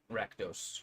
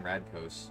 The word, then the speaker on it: Rakdos: Rakdos. Rakdos, Rakdos. I thought you would pronounce. I thought My you said bad. No, the- he said the he O and kept the saying Radkos.